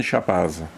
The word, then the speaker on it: Chapaz: Là, il y a celui qui était quand même le chef du groupement, c'est Eugène Chapaz. Eugène Chap, hein, chez nous on ne prononce pas le Z.